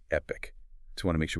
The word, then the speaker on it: Epique: That's Epic spelled E P I Q U but pronounced Epic.